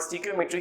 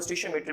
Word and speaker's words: stoichiometry: ये जो British pronunciation है इसकी वो वर्ड स्टिकमेट्री है। लेकिन कॉमनली हम इसको स्टिशियोमेट्री भी बोलते हैं।